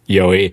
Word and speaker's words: Joey: So if you're just listening to context, well, first off, in Spanish, the J could sound like a Y sound. So if it's like a very Spanish area, I'll get my name pronounced Yoey.